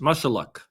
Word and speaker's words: Mushaluk: She's 34 years old and it's pronounced mush mushuck.